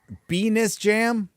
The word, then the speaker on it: Venice Jam: Our name pronounced, Venus Jam?